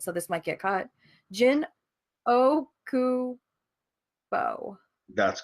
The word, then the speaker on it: Jin Okubo: Jin Okubo. That's correct. My name is Jin Okubo.